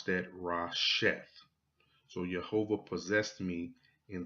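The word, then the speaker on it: ראשית: And if you look that word up in the concordance, it derives from this Hebrew word, and you will pronounce that Rasheth.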